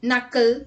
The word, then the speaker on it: knuckle: Let's look at a seventh word with silent letter KN. Let's look at the examples. Knack, knee, kneel, knife, no, night, knuckle, knit, knob and knot.